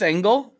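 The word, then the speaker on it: ENGL: using an actual um I don't know how you pronounce that NGL oh like yeah I think it's angle I think angle okay we say angle yeah yeah yeah yeah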